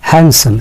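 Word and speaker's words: handsome: হ্যান্ডসাম। এখানে খেয়াল করবেন যে ডির উচ্চারণটা হবে না। হ্যান্ডসাম।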